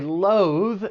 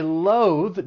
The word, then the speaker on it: loath: Or I loathe driving in really bad weather conditions. For pronunciation, it's just the one syllable, but make sure you're using that voice th at the end. Loath. Let's say it together.